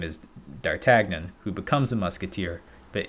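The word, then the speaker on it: D'Artagnan: How do you pronounce that pronunciation? How about that? Dartagnon. Dartagnon. Huh? Dartagnon.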